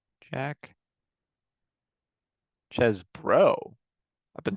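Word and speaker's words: Chesbro: sorry how do you say his name Jack chz bro I've been saying that wrong this whole time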